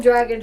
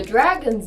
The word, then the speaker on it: Drago: And the dragon's name is Drago. Pronounced Drago, not Drago, which is how my U2 teacher used to pronounce it.